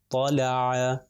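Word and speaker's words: طَلَعَ: پھر طا لام اور عین، طا کے اوپر جو ہے وہ فتحہ ہے تو اس کا تلفظ ہو جائے گا طا، لام کے اوپر فتحہ ل اور عین کے اوپر فتحہ ع. طلع طلع.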